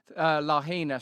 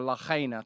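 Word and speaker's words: Lahaina: the way Jackie 963 I've seen your uh lahina stuff or Lina to say it correctly and we will look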